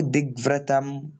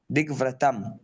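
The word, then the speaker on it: दिग्व्रतम: छोड़ो बहन नयास्यामि इति संकल्पो दिग्वतम दिगव्रतम इति सं या फिर आप ऐसा चलो दिगवतम मत करो आप ऐसे करो इति संकल्पो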